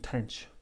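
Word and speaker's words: tanh: sine and hyperbolic 10 sometimes pronounced cache cinch and tench so we'll define the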